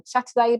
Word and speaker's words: Châtelet: It's called Brand Yourself by Lucy Werner and Adrienne Châtelet, but that's a silent H because it's French.